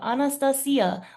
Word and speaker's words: Anastacya: I'm your host and here with me today I have Anastasia.